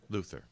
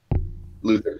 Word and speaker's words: Luther: say his name's lucas luther luther sorry is it actually i might have tried that wrong myself let me just double check here no it's luther okay um my name